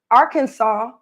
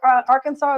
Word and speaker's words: Arkansas: So I found out that Arkansas is actually pronounced that way because it's actually a native name.